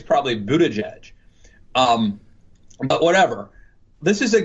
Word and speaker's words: Buttigieg: According to his Twitter feed, it's Buttigieg. Yeah. I think it's probably Buttigieg.